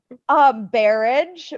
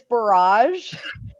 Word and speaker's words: barrage: Wait, I pronounced Barrage, but it's barrage.